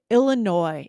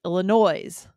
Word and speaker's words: Illinois: Also especially confusing because of, it's not spoken the way it's spelled. So Illinois. And again, this is another one as a kid. I used to think Illinois.